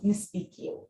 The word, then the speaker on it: Nespikiw: speaking as you know spq is an english word taken from english into arabic and pronounced in an algerian dialect kind of way and speak becomes nispiki and today we're going